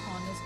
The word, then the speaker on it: honest: It is a consonant, but when we are pronouncing it, we are using H is silent and O is being pronounced.